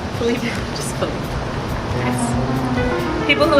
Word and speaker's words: Felipe: Mom calls him Philippe. Felipe.